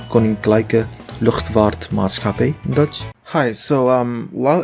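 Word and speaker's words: Koninklijke: i mispronounced this word it's supposed to be pronounced with a short eye not a long eye so it's supposed to be conning clicker you can clearly see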